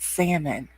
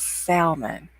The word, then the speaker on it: salmon: can't be from louisiana it is not salmon it is salmon oh my gosh that's